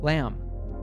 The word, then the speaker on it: lamb: Words in English that end in MB are usually pronounced with a silent B, so we say bomb. Here are other examples where the letter B is silent. Repeat after me. Comb, lamb, dumb, limb, numb.